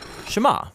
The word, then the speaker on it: Shema: is hear or listen which in hebrew is pronounced shema that's where the prayer